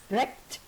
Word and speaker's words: dragged: Dragged. Dragged. Now, it's not t, it's the d. Dragged. It's got the duller sound. T is too sharp. So it's got the dull d.